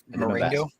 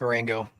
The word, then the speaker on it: Marengo: I might be wrong on the pronunciation, but Marengo? Yeah. I believe it's Marengo. Knowing back to our February 27th coverage with the tornado in that township, I texted you about that area right there, Joel. Mm-hmm. But yeah, Marengo Township is the proper pronunciation for that.